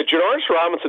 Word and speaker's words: Janarius Robinson: Yeah, Janarius Robinson, that's how you pronounce it, by the way.